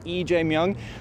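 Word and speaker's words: 이재명: The one who is expected to win, EJung. It looks like Lee in English. In South Korea, it's pronounced EJ Mong.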